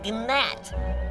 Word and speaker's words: gnat: You know, we both work for the king, but compared to me, you are a gnat. It's a G. Silent. It's Nat.